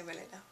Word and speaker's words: Weleda: I don't know how you pronounce it in English, but I say Weleda.